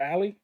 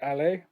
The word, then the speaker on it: Ale: pronouncing ali's voice wrong i've been calling her ally and it's actually ale so thank you for